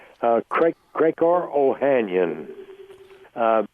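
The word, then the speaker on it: Ohanian: not my real name my real name is uh ohanyan and they say well that's a good Irish name and I say no it's spelled o h a n i a n which uh is an Armenian name and my first name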